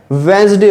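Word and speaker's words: Wednesday: ही बोलते हैं ना, वेडनेसडे को वेंसडे क्यों बोलते हो? इसकी जो प्रोनाउंसिएशन होती है, जिसको आप प्रोनाउंसिएशन बोलते हो, उसकी प्रोनाउंसिएशन क्या होती है? वेंसडे होती है।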